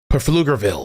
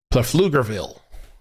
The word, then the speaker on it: Pflugerville: Jamie says the P is silent and pointless. Pflugerville.